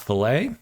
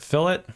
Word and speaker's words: fillet: pronounce it that way pronounce it fill it when you're referring to 3D CAD or if you're talking to mechanical engineers that is the proper